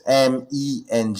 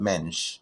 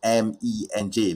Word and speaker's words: MENJ: You're not supposed to vocalize my initials, because there's no vowels except for one. So it's MENJ. It's not mensch.